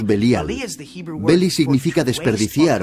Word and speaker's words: Belial: Beli-Yaal, que nosotros pronunciamos Belial.